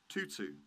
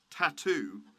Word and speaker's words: Tutu: winner archbishop desmond tutu tutu not tattoo after my bamboozling you